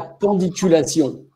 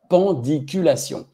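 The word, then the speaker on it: pandiculation: utilise pas est-ce que vous savez ce'est la pendiculation s'il y en a qui savent écrivez-le ça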